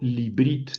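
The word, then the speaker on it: לִבְרִית: H para no tener dos shevas móviles juntos, el primero lo convierto en JEK. Y entonces le digo Librit, esto es lo correcto, librit a el pacto o al pacto o hacia el pacto o hacia un pacto, ¿verdad?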